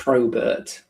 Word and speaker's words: Probert: Not Robert with a P. Not right, although that is the easiest way of getting people to spell it correctly. It's Robert with a P in front.